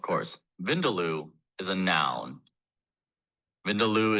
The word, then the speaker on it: Vindaloo: Your word is Vindaloo. Vindaloo. May I please have all of the information? Of course. Vindaloo is a noun. Vindaloo is the only pronunciation that I have here.